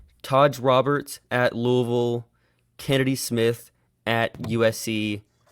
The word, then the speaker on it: Louisville: biggest takeaway first of all is your beautiful pronunciation of Lille I think most people it's it's it's Louisville yeah it's Louisville I don't know how people that's terrible in